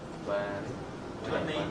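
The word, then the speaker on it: twenty: Why do you get rid of the T here? Really? We get rid of the T? Why? 20.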